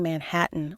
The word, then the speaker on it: Manhattan: Park she concentrated on pronouncing Manhattan with a clear T sound in the middle and a slightly nasalized a at the end mimicking what what she